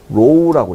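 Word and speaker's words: ρ: 얘가 이제 이렇게 되는데 이걸요, 그리스 문자로 로우라고 읽어요. 로우.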